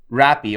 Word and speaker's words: Rappi: Rappi, or they pronounce Happy here in Brazil, is it's like Uber Eats, but it's guys on motorbikes only, right?